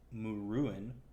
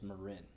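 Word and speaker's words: Muruin: c-h-a-l-a-s-k-a and then m-u-r-u-i-n so you might think it's it's it's pronounced mourin but it's marin because that's the way i'm pronouncing it um and so uh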